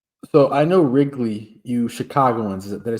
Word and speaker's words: Chicagoans: So, I know Wrigley, you Chicagoans, did I say it right? Yeah, Chicagoans.